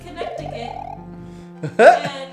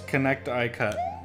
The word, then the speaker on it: Connecticut: She says Connecticut. Connecticut? I don't, and that's how it's spelled, I think, right? Connect, yeah. Bum, bum. But C-O-N. It doesn't sound like that when you say it.